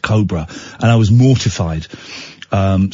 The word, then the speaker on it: Cobra: Anyway, we did a thing for uh Cobra Beer, but I pronounced it Cobra. And she took me to one side. I said, "Ian, I think it's pronounced Cobra."